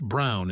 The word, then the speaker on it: Braun: if her friends ask Braun is pronounced Brown in German so people who know